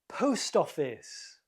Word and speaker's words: post office: 3, post office. Post office. The first word is stressed.